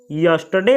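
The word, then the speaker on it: yesterday: इसको यस्टरडे पढ़ा जाता है। इसमें जो यहाँ का आर होता है उसका उच्चारण नहीं होता है।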